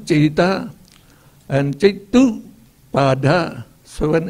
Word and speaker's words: citta: Citta, E is pronounced A, citta.